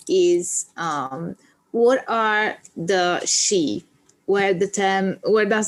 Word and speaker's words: Sídhe: of the words but in modern irish we pronounce it she and it's thought that it might have been pronounced she like a sword sheath